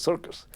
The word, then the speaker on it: CIRCES: And then somebody pointed out, that's CIRCES, that's circus.